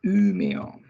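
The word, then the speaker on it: Umeå: we mentioned before about o can be like salah or in umea so you see it is pronounced differently uppsala and umeo and then we have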